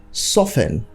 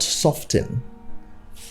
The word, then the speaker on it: soften: not bombing soften not softened apostle not apostille so you know the t's in this word are all silent so you keep them silent and pronounce them how they should be soften apostle and finally we have